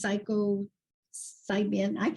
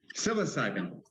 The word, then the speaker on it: psilocybin: of uh of these psycho side being I don't ever pronounce it right yeah yeah say it again cyclose psilocybin yeah back in the day